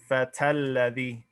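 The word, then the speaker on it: الفتى الذي: If you're running al-fata into alladhi, you're going right from the ta to the lam, because you're not going to pronounce this its full way, and you're going to jump over the hamzatul wasl.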